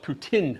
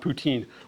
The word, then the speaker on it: poutine: So they actually call it poutine, not poutine. We call it poutine because we kind of like make up our own words when we don't know how to say them properly in a different language. But it's actually poutine is how they say it.